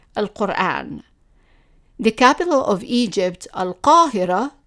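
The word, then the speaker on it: القرآن: For example, the word al-Quran, meaning the Quran, is always in general pronounced as al-Quran.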